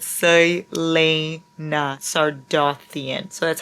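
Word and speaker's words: Celaena: Her name is Saliana. And then the top comment in that video, you guys, is Larry mispronouncing every single thing about Throne of Glass is sending me. Girly, it's Selena.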